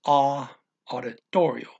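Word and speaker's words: auditório: It's O with an accent mark, so it's auditorio.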